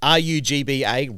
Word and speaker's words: Rugba: It's RUGBA, Rugba, and then League is LEEG.